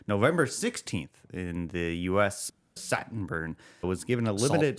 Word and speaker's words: Saltburn: Saltburn. It was given a limited Saltburn. Oh, it's Saltburn. Saltburn. Satin burn.